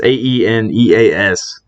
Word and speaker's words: Aeneas: I might pronounce his name wrong here, but Aeneas Peebles. Enos Peoples. I don't know. It's Aeneas. So, however you want to pronounce that, Peebles.